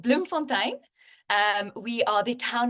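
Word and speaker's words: Bloemfontein: you so much you you did did mostly right it's a town called Bloom Fontaine um we are the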